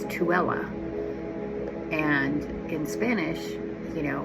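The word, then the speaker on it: Tooele: He's been here once before and it's spelled t o e l e and most people think it's tulle or you know they butcher it but it's tuella.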